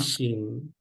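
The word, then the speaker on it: phishing: one fishing no incorrect it's gonna be an F sound fishing fishing so let's look at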